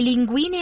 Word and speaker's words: linguine: Vorrei le linguine alle vongole. Vorrei le linguine. Linguine. Lingu. Guine, Giune. Oh, yeah, because it's a hard G.